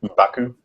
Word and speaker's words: M'Baku: How do you pronounce this? M'Baku?